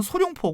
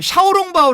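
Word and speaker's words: 小笼包: 처음 먹을 곳은 그 우리 발음은 소룡포 고 그 샤오롱바오 라바 하죠 날 달 자야죠 뭐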